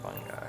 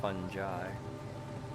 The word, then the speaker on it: fungi: doesn't love fungi yeah that's how i've always started pronouncing this funny guy i think i've heard some people call it fungi i'm not one of